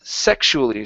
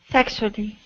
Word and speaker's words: sexually: this word is pronounced sexually so the stress is at the very beginning sexually good so a sexually